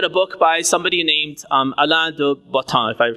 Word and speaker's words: Alain de Botton: So I recently read a book by somebody named Alain de Botton, if I pronounce his name correctly. Alain de Botton, B-O-T-T-O-N, Botton.